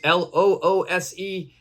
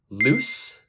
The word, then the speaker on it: loose: and lose okay loose l-o-o-s-e and lose l-o-s-e they have completely different meanings pronunciation is also different loose loose lose okay they're very different in pronunciation as well loose means something